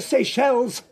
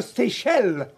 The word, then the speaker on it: Seychelles: The Seychelles. It doesn't have an S on the end. It does. It's written down here. Yes, perhaps, Mrs. Bellamy, but it's a silent S if you pronounce the word correctly.